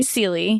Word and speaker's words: Sieli: how do you say your last name sorry sely sely yes and she is kind of a